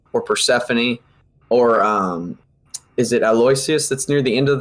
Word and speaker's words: Aloysius: Whether it's the first two tracks or Persephone or is it Aloysius that's near the end of the track list, or is that the second track?